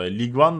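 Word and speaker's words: Ligue 1: nissle maçımız var Lig'de Lig ön diye okunuyor Sanki bu arada ligue One da denebilir de Lig 100'dür bu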